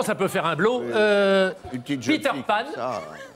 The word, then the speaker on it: Peter Pan: Peter Pan, toujours prononcé à l'anglaise, hein, parce que péter pan, c'est grotesque.